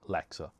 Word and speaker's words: lexer: Now when I say Alexa I mean a Lexer, not the Amazon device. So for those of you who aren't familiar with what Alexa is, you can look at the bottom of the screen to see how I'm pronouncing it as well. So it's Lexer.